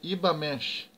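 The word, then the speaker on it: Übermensch: que Frederick chama de ibamash ivamente né que tu escreve como Uber mexe né mas como é uma palavra ele Amado pronuncia mesh Lembrando que esse U tem uma trema em cima dele o conceito traduzido do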